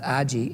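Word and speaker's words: 味: And you don't really, there's a word in Japanese, A-G-I, it's pronounced aji, and it means the taste of clay.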